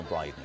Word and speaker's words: Bryden: Only if you're wearing a Bryden will you have real peace of mind. Rhymes with Dryden.